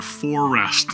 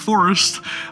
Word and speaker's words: For Rest: Yeah, that's right, For Rest, not Forest.